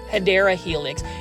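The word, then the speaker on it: Hedera helix: at this helix or the correct way to say it plan foldies is hideera helix.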